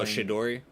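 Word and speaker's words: Chidori: Oh, Shidori. Shidori. Yeah, the Shidori.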